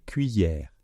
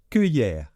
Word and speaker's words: cuillère: phonétique pour vous aider donc je vais le prononcer correctement c'est cuillère cuillère alors il y a certains Français je ne sais pas pourquoi qui prononcent cuiller cuiller comme si c'était cueillir d'accord cueillir des fleurs mais